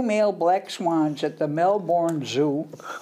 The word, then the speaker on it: Melbourne: black swans at the Melbourne zoo I suppose they pronounce it melbour uh the pair were